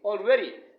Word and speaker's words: already: It should be already. The ready is the second syllable of this word, so it has to be stressed.